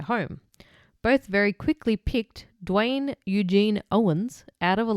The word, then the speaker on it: Duane: on the 30th of May when she spotted a man matching Dwayne's photograph. So, his name is spelled D U A N E. Yeah, Dwayne. Yeah. Dwayne.